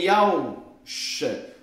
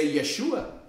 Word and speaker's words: Yeshua: Que nem é Yahusha, nem Yahushua, mas é Yeshua.